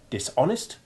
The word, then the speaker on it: dishonest: And note that the H remains silent when such words are in compounds with prepositional prefixes, as in dishonest, dishonesty, and dishonourable. Now you say those words with silent H.